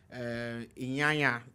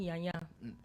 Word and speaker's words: Nyanya: In Abuja, Inyanya to be precise. Not Inyanya the singer, but Inyanya in Abuja. No, it's actually pronounced Nyanya.